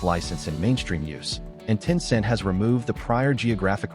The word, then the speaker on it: Tencent: On July 6th, Tencent, pronounced Tinscent, released the full